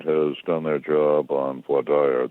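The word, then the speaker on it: voir dire: done their job on void dire the jury selection process sometimes pronounced poi dear they will have screened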